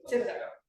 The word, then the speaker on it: Thibaudeau: All right, our third speaker today is Andrew Thibaudeau. Did I pronounce that right? Thibaudeau. Perfect.